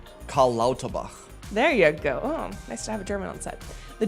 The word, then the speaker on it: Karl Lauterbach: Karl Lauterbach.